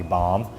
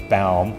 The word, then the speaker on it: Baum: pilot that of course wanted to call me bomb but it was bound so in order to